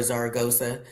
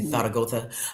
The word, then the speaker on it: Zaragoza: Yeah, I I have a whole new respect for Zaragoza. Excuse me. Thago.